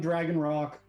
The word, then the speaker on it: Dragon Roc: That's spelled R-O-C, no K. It's like the giant mythical bird, not the piece of stone.